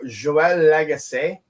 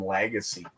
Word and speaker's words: Lagace: Yeah, I have friends with your last name and people that can't speak French, we just call them Lagacy. Yeah, or Legacy.